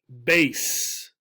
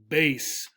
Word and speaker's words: bass: also another musical instrument this is called a base a base with a long a a base however if